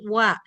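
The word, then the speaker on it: は: Maka dibacanya menjadi wa ojiang wa yukino nakao gitu ya. Ojiangwa yukino nakao. Nah di sini ditulisnya huruf H dibacanya kalau sini jadi wa sebagai partikel atau kata bantu.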